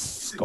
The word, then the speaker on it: Schoop: but this guy, I don't understand how he pronounces his name. I say Jonathan Schoop. Apparently, it's Scope.